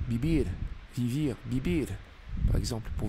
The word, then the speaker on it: vivir: aussi avec un V parce qu'en espagnol, le le V et le B, ça se prononce euh c'est c'est pour très proche, très très proche. Vivir vivir vivir, par exemple, pour vivre.